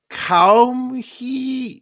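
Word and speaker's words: Caoimhe: the girl names are fiod f-i-a-d-h ada aydah cow hee c-a-o-i-m-h-e cow number four is e-a-b-h-a number five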